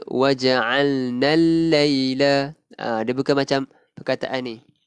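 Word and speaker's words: وجعلنا الليل: Al-laila kat sini kita tidak melafazkan kita tidak melafazkan alif lam. Maksudnya kita bacanya waja'alnal laila.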